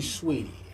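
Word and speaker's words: Saweetie: Sweetie. It's spelled like Saudi, but it's supposed to be Sweetie, I guess.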